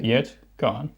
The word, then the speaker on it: Hjertegarn: Yet gone.